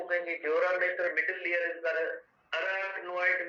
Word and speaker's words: mater: हम कहते हैं पाया मेटर कहते हैं। मीटर नहीं है, मेटर है, MATER। MATTER भी नहीं है, MATER है।